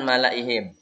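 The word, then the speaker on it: مَلَئِهِمْ: Kemudian pelajaran malaihim. Semua tulisan malaihim lahnya dibaca pendek. Jadi tulisannya yang mala ini yang panjang di lam alif ini dibaca pendek. Bacanya malaihim.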